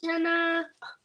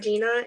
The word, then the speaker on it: Jenna: me last night that your name is pronounced Jenna and not Gina and I can't believe I was pronouncing it Gina the whole time it makes way more sense to be Jenna okay so you see how